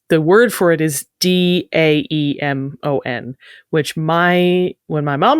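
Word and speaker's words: daemon: always pronounced it Damon everyone else in the world seems to pronounce it demon we always thought that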